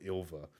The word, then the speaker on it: Ylva: I think it's meant to be like, you don't say Ylva, it's called Ilva.